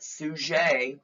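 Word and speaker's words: Suger: Arches okay remember about Abbott soujay there he is on my slide there that's how you spell it it's like sugar with an e um he is the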